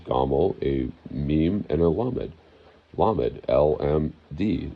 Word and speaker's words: lamed: Gamel, it's literally spelled with three letters, a gamel, a meme, and a lamed. Lamed, L-M-D, lamad, lamed.